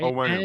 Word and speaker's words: Onwenu: Patriots putting left guard Michael Onwenu. Did I pronounce that right? Yeah. Okay. Onwenu.